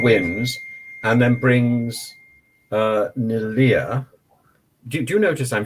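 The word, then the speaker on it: Neleh: so um pascal wins and then brings uh nelia do you notice i'm saying her name correctly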